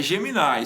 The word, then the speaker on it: Gemini: sempre fico na dúvida, como é que pronuncia? é Gemini.